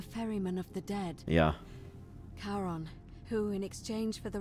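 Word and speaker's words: Charon: it's just as you described it only your pronunciation is a little off the name you heard wasn't karen it was c c-h-a-r-o-n as in as in the boat man the ferryman of the dead yeah karon who in exchange for the right coin helps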